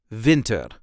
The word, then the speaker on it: winter: almost pronounce the same Vinter Vinter the emphasis is also on the first part of the word Vinter Vin Vinter and